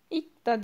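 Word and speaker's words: 읽다: İk da diye okuyoruz. L'yi okumuyoruz. Sadece ik da, sanki sadece G harfi varmış gibi okuyoruz.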